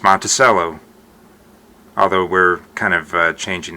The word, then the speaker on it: Monticello: Monticello, it's not, it's pronounced Monticello, although we're kind of changing that a little bit.